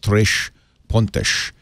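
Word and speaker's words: Três Pontas: the other day, and they said you pronounce it Tres Pontas, from Tres Pontas. But if I say that, you won't know how to spell it. So I'm going to say Tres Pontas, Trespontas.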